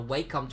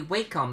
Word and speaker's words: Wacom: Apparently, Wacom is pronounced Wacom. The correct pronunciation is Wacom. I think Wacom is a stupid name. It's a stupid pronunciation, so I say Wacom.